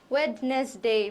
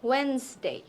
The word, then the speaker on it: Wednesday: এরপরে যে ওয়ার্ডটা, এটাকে আমরা অনেকেই ওয়েডনেসডে বলি, কিন্তু এটা ওয়েডনেসডে না, এটা হচ্ছে ওয়েন্সডে, ওকে? তো আমাদের মাঝখানে যে যে এত কিছু আছে, এগুলো অ্যাকচুয়ালি প্রোনাউন্সই করতে হয় না। কি অবাক করার ব্যাপার না? তো আমরা জাস্ট বলবো হচ্ছে গিয়ে ওয়েন্সডে, ওকে? এখানে আমাদের ডি আনতে হবে না, আমাদের এটা দেখে দেখে